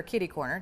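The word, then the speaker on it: kitty-corner: literally mattress firm and then caddyy or kitty corner depending on how you say it.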